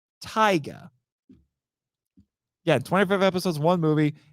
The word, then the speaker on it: Taiga: 2019, Ultraman Taiga, not Tiga, Taiga.